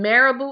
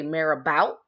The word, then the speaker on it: marabout: today is marabou and marabou is spelled em a are a B oh you see marabou but most people say it is particularly Americans they say mayor about marabou is a French word okay so it's spelled